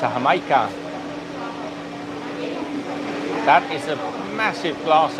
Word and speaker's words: jamaica: It's spelled Jamaica, so Jamaica, but it's pronounced Jamaica.